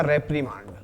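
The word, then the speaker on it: reprimand: ठीक है, वैसे एक्चुअल में प्रोनाउंस होता है इसका रेप्रीमांड।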